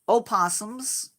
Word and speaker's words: opossum: here are those are opossums or possums as we call them but the O is silent at the beginning of the word in Australia they're just possums there